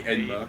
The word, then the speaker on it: Enma: It's either Indra or Enma. It should be Enma.